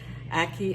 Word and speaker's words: ackee: Ackee is pronounced Ackee, A-C-K-E-E.